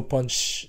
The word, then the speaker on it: Punch: So if you hear me saying Punch, I'm referring to Punch. If you hear me saying Pun, yeah, it's still Punch, you know. I'm just saying it in Thai pronunciation, but most of the